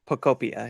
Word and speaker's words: Pokopia: Poketopia. Pokopia? Is that how you say it? Pokopia, yeah.